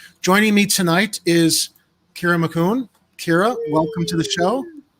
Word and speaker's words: Macoun: While we're at it, my last name is pronounced Macoun, but Macoun, and I've been mispronouncing that.